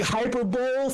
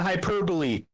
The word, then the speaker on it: hyperbole: want to you know however you want to pronounce it as your thing which by the way I've been seeing I've been seeing hyperbowl for 30 years instead of hyperbole so so whatever whatever the